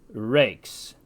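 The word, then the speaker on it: rex: Latin X this word which means leader is pronounced Dukes the word for King is Rees Z is really a combination of D and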